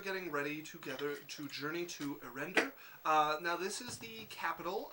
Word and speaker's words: Erender: You guys are getting ready to journey to Erender.